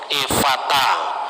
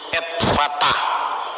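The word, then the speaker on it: Ephphatha: Banyak kata-kata Aram yang muncul, misalnya Gabata, Evata, sebetulnya Etfata. Di ejaan Yunani jadi Evata, Tali Takum, Eli Lama Sabaktani.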